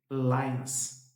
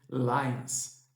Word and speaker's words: lions: A pronúncia correta aqui seria lions. Lions é mais um an no final do que um om.